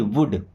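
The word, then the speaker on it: would: I means मैं, देखिए L silent है यहाँ पे ना, साइलेंट मतलब पढ़ेंगे नहीं, वुड नहीं, वुड।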